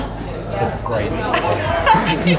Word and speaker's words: The Grates: Because it's spelled like the other way. Patience is correct into... Yeah, it's like grating cheese or grating your nerves.